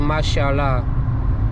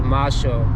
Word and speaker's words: Marshall: I used to read Marshall as Mashallah. I don't know why I did that, because Mashallah is actually an Arabic word, which I think says God bless you, something like that. Actually it's pronounced as Marshall in English.